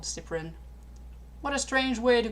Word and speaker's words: Cyprien: It's obviously Shipurin, Mimi replied. No, it's Shipurin, Yuko said. You're both wrong. It's Cyprien, Yui corrected.